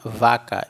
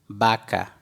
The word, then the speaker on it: vaca: bebê então ali não nós não vamos ler vaca e sim baka baka porque eu ver tem som de bebê beleza é lá uber